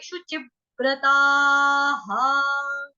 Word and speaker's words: शुचिव्रताः: उसके साथ है जी आपकी आघात, आघात लगेगा आधे व का, व्यक्ति वाला आधा व, गोल जो सर्कल होता है ना, छोटू सा गोल, आधा वो आ जाएगा, शुचिव। उसके बाद है व्रता, हा, विसर्ग का उच्चारण हा।